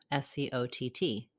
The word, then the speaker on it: Skjodt: presents how to pronounce Scott the name Scott is pronounced the same as the first name Scott s-c-o-t-t it has vowel ah Scott get more help for